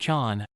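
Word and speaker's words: ฉัน: ฉ ั น I, neutral, sounds like Chan.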